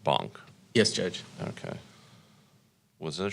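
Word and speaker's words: Bonck: So, and it's pronounced Bonk.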